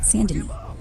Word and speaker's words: Saint Denis: Goob streaming, Chapter 6, Saint Denis, pronounced Saint Denis.